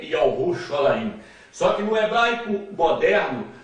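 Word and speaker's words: ירושלים: Portanto, o nome de Jerusalém no hebraico moderno é Ierushalaim. No hebraico arcaico é Yahushalaim.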